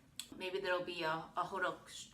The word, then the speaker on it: hotteok: like this hok hodok why I say h sounds like the way it's spelled looks like it's says hodek but it's h hodok this one is piping